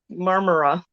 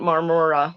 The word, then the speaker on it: Marmora: the the words um there was one town we stayed in called marmara and it took me forever to to learn how to say it because I just wanted to do that Mahna Mahna song see I just murmura so it wasn't Marmora so um yeah so